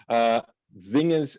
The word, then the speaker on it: Xenia: Basically, my name is pronounced Xenia, and I know Xenia. because sorry. Sorry. Obviously, no, it's fine. It's only because I recently changed my name, so I haven't spoken to you properly for you to know how to say it, but Xenia, yeah.